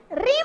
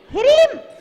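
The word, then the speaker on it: ह्रीं: विनोद जी बोलो, रीम रीम बोलते हैं सब लोग। रीम नहीं बोलना है, हिरीम रीम, हरी हिरी हिरी हिरी जीभ लौटने लगेगी।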